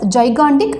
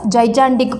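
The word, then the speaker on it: gigantic: I have to pronounce it அஸ் ஜைகாண்டிக் நாட் அஸ் ஜைஜாண்டிக்.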